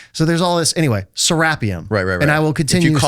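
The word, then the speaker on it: Serapeum: Americans say serapium. Egyptians say sarapium. I've been living in Egypt for 3 years. They say sarapium.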